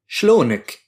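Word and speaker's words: شلونك: The shh at the beginning is a reduced version of the word what sh loan means color. E is the possessive ending we learned in the last lesson. Literally, it means what's your color? The e ending is used when you're asking how are you to one male person.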